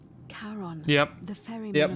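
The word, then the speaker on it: Charon: is a little off the name you heard wasn't karen it was c-h-a-r-o oh as in caron yep the fairy tale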